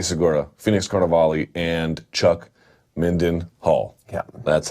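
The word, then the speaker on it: Mindenhall: Luke Thomas, Danny Segura, Phoenix Carnivale, and Chuck Minden Hall.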